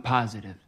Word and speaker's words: positive: positive I'm positive I'm positive I'm positive here the stress of the word positive is at the beginning positive positive I'm positive